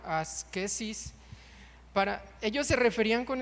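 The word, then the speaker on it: ἄσκησις: Fíjese, en la antigüedad se hablaba del de este término asetismo que en griego se pronuncia medio raro, asquesis, para ellos se referían con ese término para referirse al entrenamiento de los ejercicios atléticos y militares.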